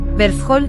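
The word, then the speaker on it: Hverfjall: Bergthol, pronunciación islandesa, también conocido como Berfell,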